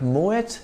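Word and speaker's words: Moët: house in the world in French the letter at the end of a word is usually silent but Moet is a Dutch name in which the T at the end is sounded it is actually the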